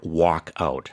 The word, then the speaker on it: walkout: It can sound similar. Yeah, work and walk. Yeah, work out, walk out.